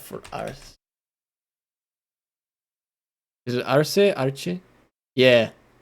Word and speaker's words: Arce: I don't know how to pronounce that either. With 55% of the votes. Arce.